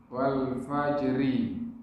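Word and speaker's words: والفجر: Wal fajri. Ra-nya dibaca kasrah. Wal fajri.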